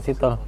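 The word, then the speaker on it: Sithole: Muter badan diambil langsung sitole. Nih orang condet itu sito sitole. Sitole sitol. Sitole enggak. Kalau di Afrika sana sitolnya bacanya siol.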